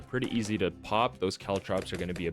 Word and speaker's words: caltrops: How do you pronounce that? Caltrops. Caltrops, guys. These are called Caltrops.